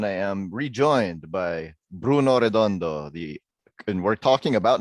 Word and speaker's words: Redondo: that well you know there's a there's a pretty legendary filipino comics artist named nestor redondo yeah you told me so yeah so just pronounce it the same way nightwing was awesome so